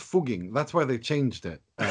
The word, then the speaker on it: Fugging: No, but it's pronounced Fugging.